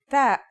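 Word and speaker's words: تاء: The pronunciation is like the English T, except you should release your breath with a strong burst of air.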